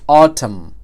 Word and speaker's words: autumn: autumn سپیلنګ څه دی autumn په اخره کې ام ان راغلی دی نو ان به پکې بیا سایلنت وي نو پرونانسیشن به بیا سره راځي autumn یا بل یو اهم